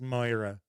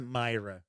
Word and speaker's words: Moira: the name is pronounced i'm irish and i'm i think it's moira i know it's not myra m-o-i-r-a jones is the